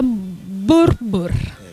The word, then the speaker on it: Boerboel: the correct pronunciation am i the way you pronounce this dog bread is that borbo it's a burbur and we usually say what bull okay my